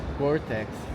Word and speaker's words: Gore-Tex: Kkkkkkkkk Oh my God, Tataya She's a real troublemaker, lol People often say: Gore-Tex This is my Brazilian pronunciation...